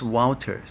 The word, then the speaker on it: Wouter: Is it a V or W? It's a W, but pronounced Wouter, just like it.